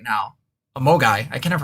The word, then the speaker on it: MOGAI: I'm actually trying to look up the term Mogwai right now. A Mogai. I can never pronounce it.